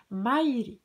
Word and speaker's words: maire: Se prononce Maire.